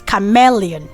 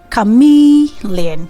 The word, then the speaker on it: chameleon: So we have what people pronounce as chameleon. I'm sure you've heard that too. Chameleon. So instead of saying chameleon, say chameleon.